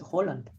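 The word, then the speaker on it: Haaland: on just you know H is how you pronounce it Holland yeah yes yes yes H you the two A's make the sound of the last letter of the Norwegian alphabet which is o oh wow so you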